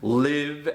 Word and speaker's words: live: If I use the word as an adjective, it is pronounced live.